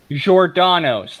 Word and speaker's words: Giordano's: Giordano's, like DiGiorno, but Giordano.